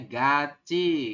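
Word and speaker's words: 같이: aturan baca nomor 13 jika ada tiet posisinya di akhir bertemu dengan vokal I Oke maka maka apa maka tiet akan naik ke sini ya dan berubah bunyi menjadi cie jadi dia tetap menggantikan ieng tapi berubah bunyi jadi bunyi Ci cie Jadi anda nanti membacanya berubah menjadi ga gimana ya buun Ga gaci betul Jadi dibacanya gaci kalau tulisan hangelnya gimana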